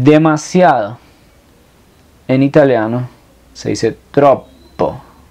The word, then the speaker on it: troppo: en italiano se dice tropo la doble p se pronuncia doble tropo no es demasiado caro